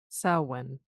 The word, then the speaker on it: Samhain: Tess had mentioned a holiday, saw him, right? Is that how you say it? Samhain. Samhain, thank you.